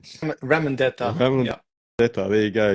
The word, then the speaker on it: Ramondetta: Now, is it Ramondetta? Is that Yeah, how you say it? Ramondetta.